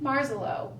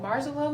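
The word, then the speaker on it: Marzollo: and it's by Jean marselo which kind of rhymes with snow marelo and snow and the illustrations are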